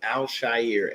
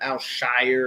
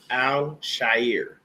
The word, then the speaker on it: Al-Shaair: So the next guy up on the list is Aziz Al-Shaair. And that's how you say it, people. It's not Al-Shire or anything else.